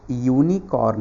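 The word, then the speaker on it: unicorn: देखिए मैं बता रहा हूँ, ये जो यूनिकॉर्न है ना, यूनिकॉर्न, इसका जो साउंड है, साउंड इसका गाइज जो साउंड है ना, ये से स्टार्ट होता है, ये से फिर ये।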